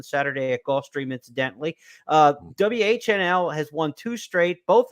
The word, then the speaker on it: WHNL: uh Remsen winner uh whnl a horse who uh is named for the four initials of four of the owners w-h-n-l was the pronunciation Danny gargan sends this